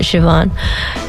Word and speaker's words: Shevonne: it's fun I see she's she fun but pronounce it Siobhan sh e vo and and E and then